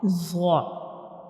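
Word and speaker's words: ظ: understand the pronunciation of za. So when we pronounce za, the tip of the tongue will touch the edges of upper two front teeth.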